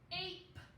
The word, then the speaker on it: ape: The A says its long sound because of the silent E. What if I put a P here? What would we say now? Ape. Ape. Because that E is silent, so we don't say it.